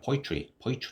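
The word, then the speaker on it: poetry: 일반적으로 쉽게 그냥 포이트리 이렇게 하셔야 됩니다. 포이트리 이렇게 됩니다. 이거 어발음 거의 안 나거든요.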